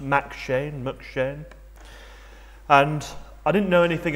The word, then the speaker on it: M'Cheyne: I believe it's pronounced McShane.